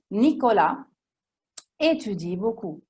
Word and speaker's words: Nicolas étudie: Nicolas étudie beaucoup. La S non si collegherà con la E che sta subito dopo.